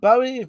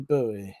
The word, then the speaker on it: Bowie: one i checked up bowie pronounced bow as in long bow and occasionally bowie it's an old english and gaelic now thank you zed